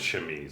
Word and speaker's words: chemise: Well, Of course, it's chemise.